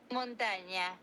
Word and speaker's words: Montaña: This is how you say it in Spanish. Montaña.